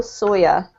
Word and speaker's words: soya: kind of spellings but we can say soy or sawyer in the uk it tends to be soya i think the us tends to say soy they're the same thing